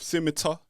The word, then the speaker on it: PSiMiTAR: That was the smooth sounds of Scimitar. Did I pronounce that correctly?